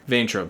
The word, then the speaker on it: Vayntrub: I don't know how to pronounce Milana it. Vaintrub. Vaintrub, thank you.